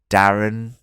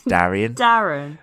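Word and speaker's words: Daeron: They could have really streamed Darren. It's Darian. Darian. Okay, Darian is the way I should pronounce it.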